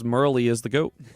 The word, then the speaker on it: Merle: Merl.